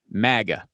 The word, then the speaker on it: MAGA: all he knew that the slogan would be pronounced as an acronym maga sounds like mega doesn't it it sounds